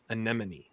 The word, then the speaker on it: Anemone: Todd's number one overall pick, his number one most anticipated, and that is Anemone. I said it right. Anemone.